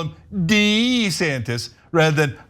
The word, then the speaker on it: DeSantis: He's demanding that people call him Dee-Santis rather than DeSantis.